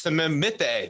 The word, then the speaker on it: Amuchastegui: No, it's Samimite. Nay. Yeah. So you're like the T is silent.